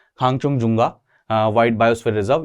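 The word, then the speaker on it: Khangchendzonga: अगला जो है इंपॉर्टेंट, दिस इज बहुत बहुत बहुत ज्यादा इंपॉर्टेंट है, खांगचुंगजुंगा मैं बोलता हूं इसे, कई लोग अलग अलग प्रोनाउंसिएशन करते हैं, मेरी पर्सनल प्रोनाउंसिएशन है खांगचुंगजुंगा वाइल्ड बायोस्फीयर रिजर्व।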